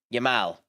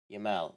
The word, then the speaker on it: Yamal: um Lenny Lemens what the how do you pronounce it? Um Yamal Yamal.